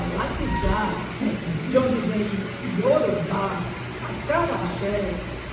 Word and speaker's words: Alakija: ou Alaquijan, como ele se identificava, mas cuja pronúncia original do nome da família na língua tonal Yorubá é Alaquijan, de onde vem Yorubá, Acarajé, Abará, Patapá.